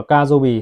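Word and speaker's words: 火曜日: Trong tiếng Nhật họ đọc là Kajobi, tức là thứ ba.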